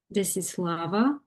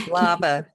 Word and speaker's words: Desislava: Desislava. Yes, pronunciation is Desislava in our country, but Okay. you read it correctly. Desislava. The accent is on the Desislava Yeah.